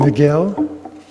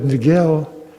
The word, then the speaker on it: Niguel: beyond that Crossing but Niguel in Spanish the G is very much pronounced like a w so it' be na